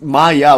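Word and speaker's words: माया: So prai and then the word shaky, the word maya, notice it's not it's maya with a long a at the end genders it feminine.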